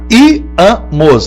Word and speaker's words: íamos: Quantas sílabas eu tenho em íamos? Repare, íamos, repita, íamos. Sílaba forte I.